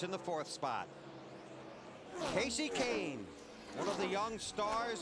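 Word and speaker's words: Kahne: believe it or not people had trouble with Kane I got called Kahani a lot everyone knows now it's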